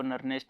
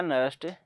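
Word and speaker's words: Nernst: तो ऐसे ही कोई इसको नस्ट इक्वेशन बोलते हैं, कोई इसको नर्नेस्ट इक्वेशन बोलता है। शॉर्ट फॉर्म में लिखो भाई, ठीक है। नर्नेस्ट इक्वेशन या नस्ट इक्वेशन।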